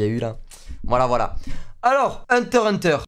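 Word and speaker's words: Hunter × Hunter: Alors, Hunter x Hunter, parce qu'on prononce pas le X.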